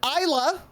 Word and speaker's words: Isla: Her name is pronounced this way. He's gonna say Isla. That's not how it's pronounced.